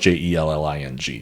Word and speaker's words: Jelling: the town of uh I think I'm probably actually pronouncing this wrong of jelling in Denmark cuz J's in Danish language are actually usually pronounced with like kind of like a y sound so it might be like a um like a I don't want to say yelling but it might be a little bit more close to